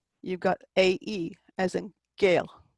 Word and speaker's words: Gael: You've got AE, as in Gael. The AE and the EA kind of sound like, yeah, Gael, which means Irish person.